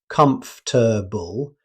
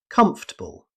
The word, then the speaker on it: comfortable: Instead of saying comfortable, you'll usually hear comfortable. The or sound is often dropped, making the word quicker and easier to say.